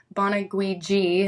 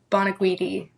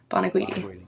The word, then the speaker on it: Bonaguidi: Um, bonuiji has always been one or like boniti. Boniti. Um, but just so it's clear, like it's bonuedi. Bonuidi.